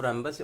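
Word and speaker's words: rhombus: मान लीजिए ये ए है, ये बी है, ये सी है, डी है, रैम्बस है, रोम्बस है यार, ठीक है। ये क्या है? रोम्बस।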